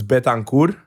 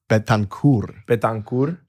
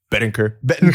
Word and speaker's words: Betancourt: So it's Betancourt. Betancourt. Okay. But in high school and everywhere else in the U.S., it's Bettencourt.